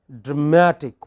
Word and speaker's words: dramatic: pronunciation say for example all words ending in ic have this kind of stress on the pre-final so you have dramatic what is it next